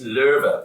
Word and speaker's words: Loewe: because it's by Frederick Loewe. I guess that's pronounced low, but in German it's Löwe, which means lion.